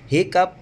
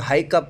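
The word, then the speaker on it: hiccup: इसी तरह हिचकी जो होती है, हिचकी के लिए आप वर्ड यूज़ करते हैं हिकअप और हाइकअप, दोनों जो है ना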